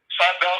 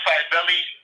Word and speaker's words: Cybele: Last week, I very briefly mentioned the Greco-Roman cult of Cybele, or it's pronounced in different ways. It's Cybele, Cybele, or spelled with a K sometimes. Kybele, Kybele.